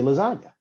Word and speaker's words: lasagna: ass about it and i said it's technically silent just based off of english phonetics because you don't get a g sound when you say lasagna that's why i say